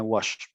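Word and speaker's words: Łoś: que se llama el teorema de Wash, que es un polaco y por eso la pronunciación es tan rara.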